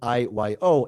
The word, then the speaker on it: io: So there's IO I Yo, and I the letters IO.